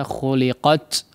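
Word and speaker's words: خُلِقَتْ: di akhir ayat ya, diperhatikan pengucapan hamsnya ya. Pengucapan sifat hamsnya ya. Jangan terlalu berlebihan ya, khuliqat la ya, sekedarnya saja khuliqat ya.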